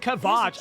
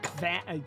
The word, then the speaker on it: Kavach: Oh, it's pronounced Kavach. I thought it was like Kva.